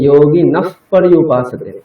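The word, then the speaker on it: যোগী নঃ পর্যুপাসতে: এখানে যোগী নফ পর্যুপাসতে, যোগী আচ্ছা, হ্যাঁ, তারপরে ফ, একটা ফ বলতে হবে, যোগী নফ সেটাই বলছিলাম, মানে বিসর্গ করে প থাকলে ফ উচ্চারণটা হবে।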